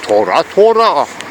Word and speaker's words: Thôrahx: On le prononce tout simplement Torah. Ça s'écrit pas à X, enfin, ça se prononce même pas.